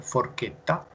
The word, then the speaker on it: forchetta: sila bossi ed il wave che che venier forchetta forchetta per lui alla scheda scheda final eight